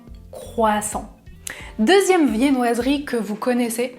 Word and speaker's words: croissant: en France c'est un croissant un croissant attention à la prononciation je ne prononce pas le "t" à la fin un croissant deuxième viennoiserie que vous